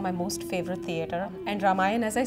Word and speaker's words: Ramayana: says ramayana in South in North India we call it ramayan there's not a at the end so it's ramayan ramayana I say ramayan ramayana